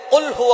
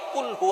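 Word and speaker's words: قُلْ هُوَ: আল্লাহ পাক রাব্বুল আলামন এখানে বলছেন কুলহু আল্লাহু আহাদ। এখানে কফ দিয়ে পড়ছেন কিন্তু অনেকেই ভুল করে উচ্চারণ সঠিক না হওয়ার কারণে তারা পড়ে কাফ দিয়ে। কুলহু আল্লাহ।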